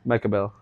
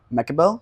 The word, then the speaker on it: Mekibel: know who you are how do you pronounce your last name mechael mechael yeah okay I was like going over to